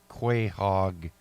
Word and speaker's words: quahog: It's called the ocean quahog clam. Quahog is spelled Q-U-A, hog, H-O-G. So it's an ocean quahog clam.